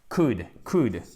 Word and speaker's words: could: Donc, this, disease, accent tonique, ou court, could. On ne prononce pas le L, d'accord?